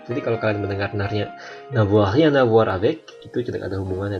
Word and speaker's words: rien à voir: N dari kata rien itu tidak jelas, dibuat sengau. N'a rien à voir. Tetapi ketika kita menggabungkan kata-kata ini dalam pengucapan, maka rien-nya itu N-nya jelas karena dia bertemu dengan A.